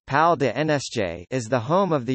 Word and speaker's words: Palais des Nations: The Palace of Nations, French, Palais des Nations, pronounced Pal de NSJ, is the home of the United Nations office at Geneva, located in Geneva, Switzerland.